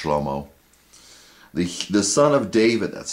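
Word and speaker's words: שלמה: It's pronounced differently in Hebrew. I believe it's pronounced shlomo.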